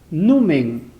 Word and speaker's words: numen: Numen. Porque si no estaría con tilde, ¿no? Estaría con tilde, sería aguda, terminada en N, debería tildarse. Pero acá no está tildada, entonces se pronuncia numen.